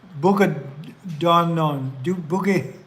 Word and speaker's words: Bukidnon: Because this is the second time I've Bukidnon.